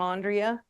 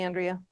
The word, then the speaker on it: Andrea: me come back here again um I actually pronounced my name Andrea but people um sometimes call me Andrea but it might not be relevant if you